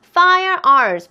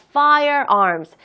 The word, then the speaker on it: firearms: R 발음 두 개니까 firearms. fire 끝에 있는 R 발음 너무 정확하게 내려고 욕심내시면은요, 뒤에 나와 있는 R 발음을 하기가 조금 힘드니까 firearms 하면서 fire에 나와 있는 첫 번째 R 발음을 너무 정확하게 하려고 노력하지 마시고요. 혀가 그냥 입천장에 안 닿게끔 내가 R 발음을 하고 있다라는 것만 하는 사람들이, 듣는 사람들이 느낄 수 있게끔만 내가 입 모양을 내시면은 충분히 발음할 수 있는 단어입니다.